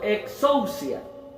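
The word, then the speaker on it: ἐξουσία: Yo encontré que esas potestades en griego se pronunciaría como algo así como exousia. Difícil la palabra, pero más o menos así se pronunciaría.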